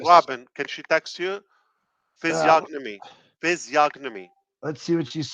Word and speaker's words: physiognomy: yeah I like that that is more reasonable physiognomy stop texting me I got it goty am